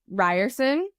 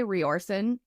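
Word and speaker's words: Riorson: is no my Zaden Ryerson Ron people say roron I say Ryerson okay I say RoR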